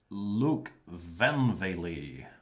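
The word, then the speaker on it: Loek van Wely: briefly check in with the other Dutchman Mr Luke vanv that is the correct pronunciation and I've I've been threatened by a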